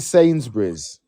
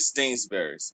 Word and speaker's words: Sainsbury's: It's fucking Sainsbury's. How did he say it? Say it again. I call it Stainsbury's, but it's This is what I'm Sains. saying. It's no T.